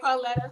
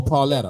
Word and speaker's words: Pauletta: Denzel Washington wife name you said it right pauletta oh pauletta okay so Paul you know I like that